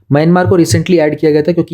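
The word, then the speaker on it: coup: black list में है क्योंकि यहां पर 2021 में कू हुआ था कू मतलब इसमें पी जो है साइलेंट होता है एक तो हम लोग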